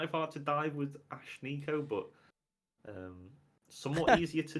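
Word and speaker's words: Ashnikko: like Gwen yeah she's got blue hair right Ash Nico it's spelled a-s-h-n-i-k-k-o yeah but it's it's Ash Nico that's how it's pronounced 27 years old who sings pop hip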